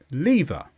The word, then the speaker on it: lever: a number of countries lever it's a noun with a stress on Lee this is a device